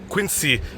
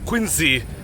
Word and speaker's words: Quincy: not appreciate the pronunciation Quincy, Q-U-I-N-S-E-E. In fact, they would demand that you pronounce Quincy as Quincy, aka Q-U-I-N-Z-E-E.